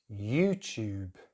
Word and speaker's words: YouTube: Okay, now we have YouTube, YouTube, and it's the way we say tube that's different. In British English, when we have a T and a U, we put this little Y sound in between, so it's tube, tube. Americans just say tube, tube. It's a bit like tulip and tulip.